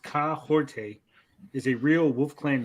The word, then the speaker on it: Kahhori: So, so Aston says pronounced Kaorte is a real Wolf Clan name meaning she stirs the forest or is someone who motivates those around her.